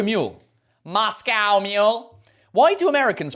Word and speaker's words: Moscow: I guess we do say a cow. What? What? Where do you get milk? A cow. We don't say a co.